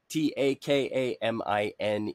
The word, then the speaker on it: Takamine: by the name of Takamine, T-A-K-A-M-I. Yeah, that's right. Takamine. You'll notice that the vowel sounds in Japanese are pronounced almost like they're Spanish or Italian.